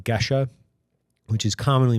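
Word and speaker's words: Gesha: you have heard of a coffee called like Gesa which is commonly mispronounced into gisha uh that's the the the the mother of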